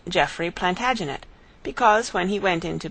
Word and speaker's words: Plantagenet: covered with his visor the Latin name for broom is plantag genista and gradually it came to be pronounced plantagenet although Jeffrey was French he